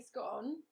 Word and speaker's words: scone: Justine says, I'm going to make these cheese scones today. Oh, good, good, good. Good. And Patricia says, I'm in. Yep, absolutely. And, okay, so Justine says, rhymes with gone.